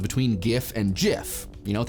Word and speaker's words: GIF: If what we're saying is that GIF is correct because graphics is pronounced with a G, that's fine, as long as you're also gonna follow suit with other acronyms and pronounce scuba as scuba and laser as laser, which probably you're not.